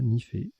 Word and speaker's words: nifé: On a joué Nifé, N-I-F-E. Vous aurez la définition tout à l'heure, ça se prononce bien comme ça, Nifé.